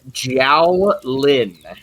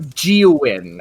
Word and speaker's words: Jiao Lin: like here we go i know it's kind of weird to pronounce but it is a very it is a very chinese-esque sounding name jiao lin it's not kinda it's really hard not geowin okay no all right